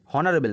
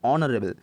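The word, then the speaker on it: honourable: অনারেবল কেন হচ্ছে, দেখো এইচের উচ্চারণটা হচ্ছে না, তার আগে আমাদের কিসের উচ্চারণ হচ্ছে, ভাওয়েলের উচ্চারণ হচ্ছে অনারেবল, অনারেবল, হনারেবল নয়, অনারেবল।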